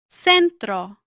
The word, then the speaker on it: centro: Before E or I, it usually sounds like S in most of Latin America. For example, centro, ciudad.